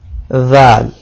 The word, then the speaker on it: ذال: If you touch tip of tongue with edge of upper front teeth, you can pronounce letter zal.